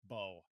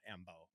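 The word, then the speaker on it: Mbow: It's just Bo, not Mbo.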